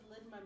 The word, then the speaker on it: ligma: What does ligma mean? You're not even saying it right.